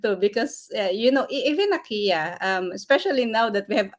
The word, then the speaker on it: Ikea: was told then that the actual uh pronunciation of Ikea is Ikea okay okay yeah so you